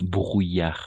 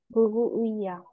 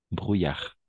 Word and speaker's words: brouillard: Ah, brouillard, brouillard. ¿Bru? ¿Bru? Ay, brou. ¿Bruillac? Bruy, alors, si tendría que escribirlo como pronunciamos, lo escribo. ¿Bruillac? Oui, c'est ça. Bruyar. ¿Bruillac? Bruyar. ¿Bruillac? Perfecto. Bruyar. Merci. Bruyar. Bruyar. Oui, exactement. Hasta la R nomás.